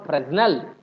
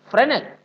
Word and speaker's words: Fresnel: It's not, we don't call Fresnel. We call it Fresnel. So S is silent.